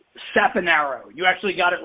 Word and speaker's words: Saponaro: name at the beginning it's how do you pronounce it again it's SA Aro you actually got it right at Theo yeah